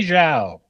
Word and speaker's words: Zhao: Remember that one time I mispronounced the Chinese name. So there we go. I was not even close. It was Zhao.